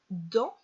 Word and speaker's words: dans: mais aussi, but also, dans, in, remember that dans, you do not pronounce the S at the end.